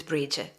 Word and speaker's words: Bridget: so you know if you're talking about more of like an Irish um pronunciation it's Bridget and that's the goddess